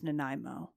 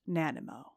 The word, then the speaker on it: Nanaimo: And if you didn't know how to pronounce Naimo, now you do. It's not Nanimo.